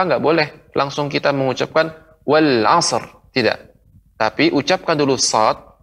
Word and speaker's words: والعصر: Maka tidak boleh langsung kita mengucapkan wal asr, wal asr. Maka ini kurang tepat. Pengucapan wal asr. Karena kita di sini mengucapkan sad menjadi qalqalah wal asr.